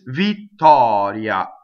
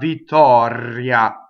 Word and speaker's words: Vittoria: Not R, not Vittoria, Vittoria, no, Vittoria. So flipped R.